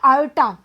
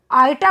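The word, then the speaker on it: iota: के आगे है ना, इसका प्रोनाउंसिएशन कैसे करेंगे, आयोटा, आयोटा बोलेंगे इसको।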